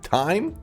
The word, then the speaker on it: thyme: Thyme. It's pronounced thyme. I like thime more. It's like thy meat.